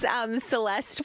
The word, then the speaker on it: Syleste: Stick with Celeste.